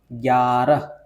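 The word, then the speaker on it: ग्यारह: അപ്പൊ ഇതുകൊണ്ട് നമുക്ക് നോക്കാം ഗ്യാറ ഇത് ഗ പകുതിയാണ് അതിനുശേഷം യാ ഗയും യായും മിക്സ് ആയിട്ടുള്ള ഒരു അക്ഷരമാണ് ഗറഹ് ഗാറഹ് ഓക്കേ അതിനുശേഷം ബാറ തേ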